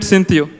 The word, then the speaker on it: Synthio: We call it Synthio. For context, it is just syntax and theory pronounced together.